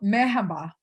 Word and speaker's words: merhaba: Hello, merhaba. Mehaba.